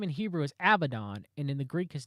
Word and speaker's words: Abaddon: The Hebrew form Abaddon is pronounced Abaddon, and it's very weak associations unless he is the Antichrist, right?